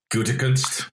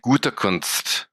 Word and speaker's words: Gutekunst: I mean, if you want to really say it like as a German person would say it, and it's been a while, they would say, his name is Brian Gutekunst.